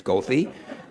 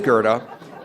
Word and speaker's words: Goethe: the CTA bus drivers routinely mispronounce as Goethe, but it is Goethe.